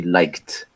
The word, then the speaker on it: liked: With a T, exactly. It's going to be liked. Like Liked.